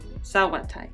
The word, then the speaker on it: Sauerteig: Sauerteig.